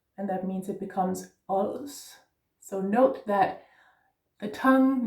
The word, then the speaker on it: Ods: Os, hell, yeah. It's also with an open O, so it's os, yeah. Almost like O, but it's not. It's just very open O, opened O, yeah.